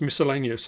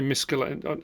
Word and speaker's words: miscellaneous: that I know it's miscellaneous when I say miscaline I know it's not that's not how you say it it's just my